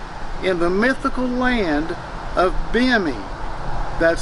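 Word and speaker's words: Bimini: They spoke of the restorative powers of the water in the mythical land of Bimi, that's spelled B-I-M-I-N-I, Bimi.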